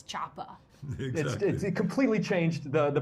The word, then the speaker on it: Choppa: I think it's you can't you can't say Chopper it's not that's might as well not be a word it's Choppa it completely changed the the pronunciation of the